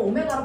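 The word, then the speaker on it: ω: 이거 W로 읽으면 안 된다. 나만 그렇게 읽는 거다. 너네는 뭐라고 읽어? 오메가.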